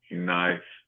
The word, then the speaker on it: knife: I think it should just be spelled with an N. N I F E and Ne E knife.